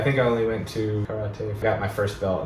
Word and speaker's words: karate: and I had Karate. I think that the proper way to say it. In America we all say ‘karate,’ even though that’s obviously not right.